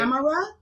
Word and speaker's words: Amara: Amra and cross out the sea.